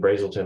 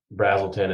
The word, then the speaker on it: Brazelton: unique offerings um so you mentioned Brazelton or brazzleton excuse me you got me saying Brazelton now it was our fault